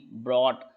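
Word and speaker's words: brought: आए होंगे लेते हैं तीसरा नियम लास्ट में जब जी एचटी आए तो जी एच साइलेंट होता है और जी के बाद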